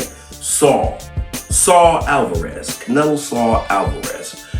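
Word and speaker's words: Saúl: Mexican boxer Canelo Saw Saw Alvarez. Did I pronounce that right? Saul Saul Alvarez.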